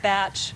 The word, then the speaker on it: Bach: like to use and this is not bakas in the composer no actually and I think they sometimes pronoun it batch pronounce it batch flower remedies but no